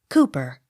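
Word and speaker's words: Cowper: s coots c o w p e r cooper d a l z i e l dl accent on first syllable d e r b y darby d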